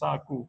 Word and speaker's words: sagu: Actually, sago is from Malay as well, which is pronounced sagu. It's a Malay word, so but that is standard English, but I don't think ambuyat is yet.